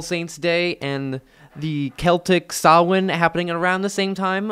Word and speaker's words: Samhain: And all of this would be pulled all together into one big festival known as Samhain. Yes, it's pronounced Samhain.